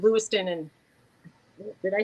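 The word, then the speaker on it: Lewistown: get corrected a lot I kept saying Lewis town and they go Leon and then I said Leon and did I say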